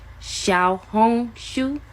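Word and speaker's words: 小红书: Little Red Book so make sure y'all are pronouncing the name of the app right it's called Shia Hong Sho Shia Hong Sho Shia Shia H Sho Shia Hong Sho make sure that's what y'all that's how y'all pronouncing the app cuz that is the real name of it Shia hong shu Thank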